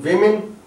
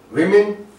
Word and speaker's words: women: And this O can give us the sound E, like in women. This O is giving us this sound in women, and this O in pigeon is also giving us the same E sound.